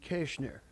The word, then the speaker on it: Koechner: one can because it's it's mispronounced it should be ker but I grew up in a small town of Missouri and they apparently one German generation after uh uh was dumb enough to not remember it but it's Kenner it's pronounced that's how we pronounce it now that's my real name